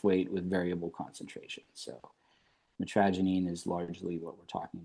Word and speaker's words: mitragynine: So, mitragynine, that's again how I say it. You can You can look up online. I've I've been on various things like Reddit and and, uh, how people prefer pronouncing it, but you'll see like mitragynine, I say mitragynine. It's gives off my, uh, Pittsburgh roots a little bit, mitragynine.